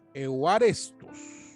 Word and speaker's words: euarestos: Después tenemos la palabra agradable, que es aceptable, y es la palabra griega euarestos, con acento en la A, euarestos, es la palabra agradable.